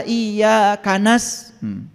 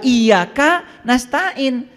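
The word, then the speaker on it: إياك نستعين: Padahal bahasa Arabnya iyyaka na'budu wa iyyaka nasta'in, tidak disatukan. Kok bacanya jadi Kana dan Kanas?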